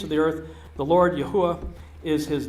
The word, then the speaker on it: Yahweh: would totally makes sense the pronunciation that I have chosen for the tetragramaton I'm not dogmatic about that I know some people you know it's Yahweh or Jehovah or yahovah I've kind of gone through all of them in the course of my journey um looking at the various pronunciations of four consonants uh I've landed on Yahweh if you say Yahweh I'm good with that too so I don't think